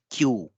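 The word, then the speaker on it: きゅう: क्यू के बाद एक और ऊ की ध्वनि है यानी कि क्यू।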